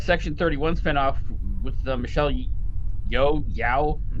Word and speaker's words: Yeoh: Speaking of spin-offs, apparently that Section 31 spin-off with Michelle Yao, I'm not sure how to pronounce her last name, is still in development. Yeah. Yeah, it's Michelle still- Yeoh.